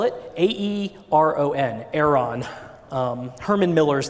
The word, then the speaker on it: Aeron: have but you don't what how do you spell it a-e-r-o-n Aeron um Herman Miller is the company that